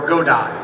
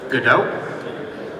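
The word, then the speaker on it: Godot: this room can go download Unreal Engine or go dot. I'm kidding. It's pronounced GDAU, but it's spelled go or game maker or Unity.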